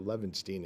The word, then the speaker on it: Levenshtein: Brooks fan and you remember Young Frankenstein so lanstein is actually how you pronounce it but I say Leen just to